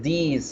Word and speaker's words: these: Now, this is se pronuncia de esa forma cortica. This is, this is, this is. Y la plural se dice these are, these are, these are. Hay que aprender a pronunciarlos para que no se confundan entre los dos. This, these, this. El segundo se alarga un poquito.